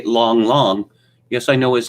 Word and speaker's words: Lang Lang: fan these days you might think that say long long yes I know his name is spelled Lang Lang but that's the opinion for you it's pronounced long long is the greatest wet figure in the the